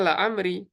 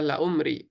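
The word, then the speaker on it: لعمري: Bacanya la amri. Itu aslinya adalah la umri.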